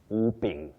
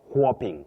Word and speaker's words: whooping: And your second word whooping. Not quing. Whooping. No. Whooping. And your first one wheezing.